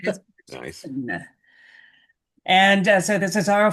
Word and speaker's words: Ibbotson: I figured out the correct pronunciation of her name. It is Nice. Ibbotson.